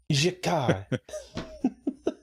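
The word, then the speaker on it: G'Kar: Texas is saying, remember, just pronounce Jakar's name like you're French. Jakar.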